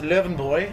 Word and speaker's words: Löwenbräu: away i'm happy um yes leuven boy as it's as is pronounced there aren't any lines